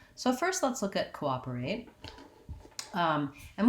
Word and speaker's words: cooperate: first let's look at cooperate um and what we have here is second syllable stress so this is kind